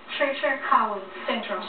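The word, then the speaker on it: Treacher Collins syndrome: So, give me the pronunciation. It's Treacher? Treacher-Collins syndrome.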